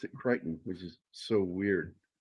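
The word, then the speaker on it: Crichton: And so I always thought, is it Kristen or Kryton? But it's neither. He pronounced it cretton, which is so weird. It's like, forget the the ch, it doesn't exist.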